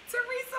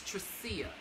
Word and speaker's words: Tracia: lessons from chicago hello theresa what's up i always say your name wrong i'm sorry it's tracia i remember we talked